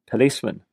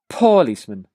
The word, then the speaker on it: policeman: Which syllable of the word has more strength or force? Which one do I say with more emphasis? Policeman. Notice how I emphasize the second syllable here. I'll try saying the word again, but this time I'm going to make the first syllable stronger.